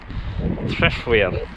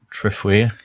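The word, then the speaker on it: Trefwir: I think it's T-R-E-F-W-I-R. Threfwir. Threfwir? Yeah, it's not that hard, is it?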